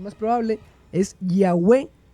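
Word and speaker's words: Yahweh: Formas de abreviaturas como el ya que aparece en el aleluya, que significa alabada ya, sugieren que la primera sílaba es ya.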